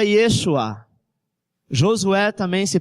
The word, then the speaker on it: Yeshua: vogal só tem consoante o mesmo nome Jesus se pronuncia Yeshua Josué também se pronuncia